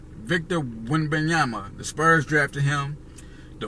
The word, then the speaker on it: Wembanyama: Wembanyama. Victor Wembanyama.